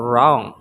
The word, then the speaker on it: wrong: is the letter W so the letter W BEC silent before the letter R in the word wrer Ris or wrong It also didn't pronounce